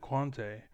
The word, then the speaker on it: Quante: world's best Urgot player, Quanti, or Quante, right? Because he's a little douchebag. I watched it, but they said, I was like, how do you say the name? He's like, Quante.